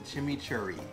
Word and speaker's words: chimichurri: And now I think my favorite part, the chimichurri.